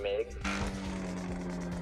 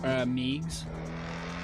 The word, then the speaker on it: Meigs: Is it Miggs? Meigs. See, I wasn't sure if it was Miggs or Meigs. I didn't know if the E was silent.